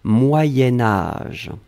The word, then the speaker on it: moyen âge: alors moyens moyens4 sion quand on va le blier avec âge on va faire ce petit modification de prononciation on va dire moyenne moyen-âge d'un c'est pour ça que vous avez peut-être entendu moyenne mais en fait on écrit moyen moyen âge va être prononcée moyen-âge d'accord allez ce troisième chose